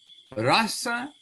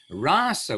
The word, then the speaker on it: rasa: hope we know anyway, rasa with a long A is the rasa dance of Krishna and the gopis. Rasa with a short A is mellows. I mean, it is how it's mood, feeling, all these things.